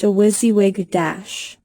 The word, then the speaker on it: WYSIWYG: This is called WYSIWYG (What You See Is What You Get, pronounced 'wizzy-wig').